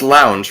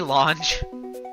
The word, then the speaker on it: lounge: You do know it's pronounced lounge, right? my fault. Did I say launch? You said lounge.